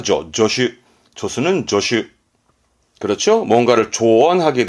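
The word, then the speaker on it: 助手: 이를 도와주는 조수 발음은 조슈. 얘는 발음이 조로 합니다. 조슈.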